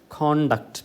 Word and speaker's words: conduct: conduct certificate contact okay that is conduct because the stress falls on the first syllable conduct e e the